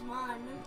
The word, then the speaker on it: Mun: because they're like riley it's not ruined it's one i always still pronounce it moon as in our moon even though it's spelled